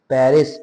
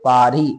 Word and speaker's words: Paris: in I live in Paris pari s is silent in French right pari how do we pronounce it pari jabit aari next is I am doctor.